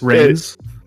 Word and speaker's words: Reigns: Is it Reigns? But it's Reigns as in like reign over, like REI, like Atlanta Reign.